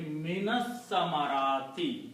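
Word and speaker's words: مِنَ الثَّمَرَاتِ: So the pronunciation now will be minas samarati.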